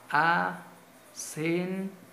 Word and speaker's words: acentúo: ¿Y dónde está la mayor fuerza de voz? ¿En U o en O? Acentúo. Mayor fuerza de voz en la U.